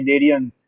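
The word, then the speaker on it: Cnidaria: क्या बोलते हैं इसको डेरियन सी साइलेंट है यहां पर में इसको बोलेंगे डेरियस क्या बोलेंगे भाई डेरियस ठीक है देखो अब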